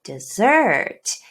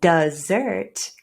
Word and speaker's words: dessert: But the word dessert, can you hear dessert? That first syllable does reduce to schwa.